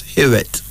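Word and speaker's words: Hiwot: life itself hear it h i w o t but pronounced as hear it then this husna h-u-s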